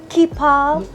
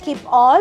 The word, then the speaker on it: Keepall: Congratulations on your new Keepall XS. What is the right pronunciation of it? Keep-all or Keepal? Keepall. Because I hear others say Keep-all.